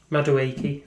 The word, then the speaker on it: Madueke: So, what What's his How do you pronounce Madueke.